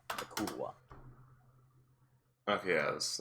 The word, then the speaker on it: yklwa: It's a YKLWA. That's how it's spelled. Yakulwa. Yakulwa.